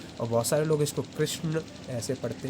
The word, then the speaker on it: कृष्ण: आप मेरे साथ पढ़िए कृष्ण कृष्ण कृष्ण। इसका उच्चारण आपको पता ही है, दंत से होगा और इसका उच्चारण जो हमारी तालु है उधर से होगा।